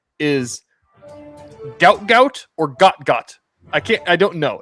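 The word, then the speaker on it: Gout Gout: His name is Goutgout or Gotgot. I can't I don't know. He's Australian. It's pronounced It's spelled out goutgout. And it sounds like they he goes by like got type of thing.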